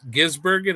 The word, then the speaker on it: Gisbergen: a 124 scale salvino Jor Shane Van G gisbergen is that how you say his name that